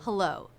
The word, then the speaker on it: hello: This is a two-syllable word with stress on the second syllable. Da-da, hello. So it's that second syllable with the up-down shape of the voice. The first syllable will be pretty flat.